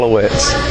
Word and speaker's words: Alouettes: Yeah, Montreal Alouettes. Alouettes?